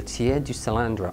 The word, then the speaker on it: tiers du cylindre: The most popular of them, the best known of them, is called the tiers du cylindre, often mispronounced but not by me.